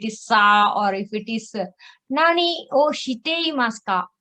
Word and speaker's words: 何: see one more rule when none this kanji plus noun comes then it is nani okay so any noun for example so this is a noun okay it's a name then nani aki de ori maska then it is nani it's not non akira okay there of course